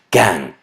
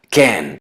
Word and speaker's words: can: La pronuncian can. Todos sabemos que la letra A es E en inglés. Lo correcto es can.